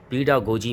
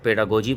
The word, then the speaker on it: pedagogy: अच्छा एक यहां पर करेक्शन करना चाहता हूं वो यह है कि कुछ लोग इसे पेडागोजी बोलते हैं, प्रोनाउंस करते हैं और कुछ पेडागोजी। एक्चुअल में यह पीडागोजी है और इसका मतलब होता